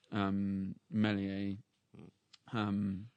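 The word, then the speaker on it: mise en abyme: you're going back to explore many a home that's the right way to pronounce it so I think yeah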